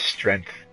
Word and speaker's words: strength: now shut your eyes she says strength i i like you pronounce the g you know strength strength okay so i'm